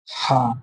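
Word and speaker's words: حاء: মোটা হবে জিম, জিম, হা, এই উচ্চারণটা একটু গলার ভিতর থেকে হবে, হা, হা, খ, খ, এটা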